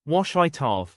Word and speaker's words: Ouachita: Most people can't even pronounce it. It's Ouachita.